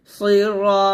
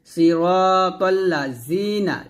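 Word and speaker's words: صِرَاطَ الَّذِينَ: Jerry নুন জবর না সিরাতাল্লাজিনা এই জালটা যখন উচ্চারণ করবেন জিহ্বার আগা সামনের উপরের দুই দাঁতের আগা সঙ্গে লাগিয়ে জালটা উচ্চারণ করবেন নিচের দাঁতে লাগাবেন না সিরাতাল্লাজিনা জিনা এটা বলা যাবে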